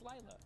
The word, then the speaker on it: Lila: it pronounced Lila or Lila? It's Lila. Or am I saying Lila? Lila. Lila Rose? Lila Rose? I don't know, what the fuck? Whatever. Who? Lila. It's Lila. Like a lilac.